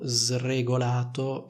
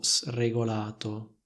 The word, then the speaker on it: sregolato: senza regole come vedete Io ho detto in modo sregolato e non in modo sregolato di nuovo la Prun della S più simile a quella della S intervocalica allo stesso modo si